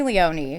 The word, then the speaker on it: Leoni: the one and only how do you pronounce your last name Leone okay yes I'm not gonna lie like it